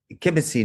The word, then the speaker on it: kibbutzing: And the reason I did it like that, because I grew up with guys, kibbutzing, as my Jewish wife would say, or did I say it rightly?